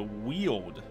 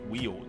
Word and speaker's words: Weald: So we have a 90% exploration on the ruins, or 100% rune battles in the Weald, which is how it's pronounced. Not Weld, apparently, but it's pronounced Weald.